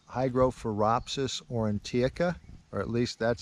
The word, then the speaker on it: Hygrophoropsis aurantiaca: I'm probably going to butcher the Latin name on this, but it's Hygrophoropsis aurantiaca, or at least that's how I've been pronouncing it since I encountered the mushroom several years ago.